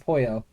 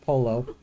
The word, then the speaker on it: pollo: It said pollo. Yeah, okay. I don't even know how to pronounce that. Pollo, yeah, it's a Spanish word for chicken. Not polo. It was funny.